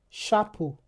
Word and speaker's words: chapeau: So, if H follows the letter C, it is the the CH will be pro uh will be pronounced as sh. For example, chat chat chapeau exactement We also have